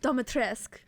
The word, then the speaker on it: Dimitrescu: Yeah, she literally in her line, she goes something. She says like I don't know, but she says the House of Dimitrescu.